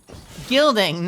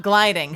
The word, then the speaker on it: gilding: Gilding, not gliding. She can't reach. Nope. You said it right. It's gilding.